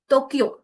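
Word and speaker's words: 東京: Alright, सो कुछ नहीं है, जस्ट इस वॉवल आएगी तो उसके बाद हमारी साउंड हल्की सी लॉन्ग हो जाएगी, हल्की सी स्ट्रेच होगी, Ohio, गाक्को, अरिगातो, टोक्यो, like this one.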